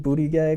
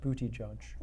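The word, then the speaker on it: Buttigieg: have a Zuckerberg and you have a Pete booty gag or whatever his name is and you've got you know a couple pronounced booty judge thank you and you have a few people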